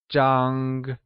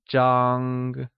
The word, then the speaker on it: Zhāng: The first measure word we will learn is Zhāng Zhāngis the Measure word for something flat such as a bed, a photo, or a paper It is pronounced with a high level tone, like Zhāng Great!